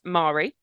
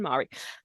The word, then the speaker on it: Mari: So Alva is Alva and Mari are the way I pronounce those names.